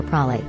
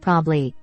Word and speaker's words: probably: Note, I'm familiar with the common tendency to skip the ba portion of the word, pronouncing it prabli. I'm specifically curious about the elision of both of the b sounds and the vowel between them.